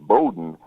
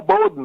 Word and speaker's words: Bodden: Yeah, the reason it's pronounced Bodden is because in the islands, that's how they talk. Yeah, Bodden, man. That's how they beautiful. talk. Awesome. They use that accent, so that's where the pronunciation came from.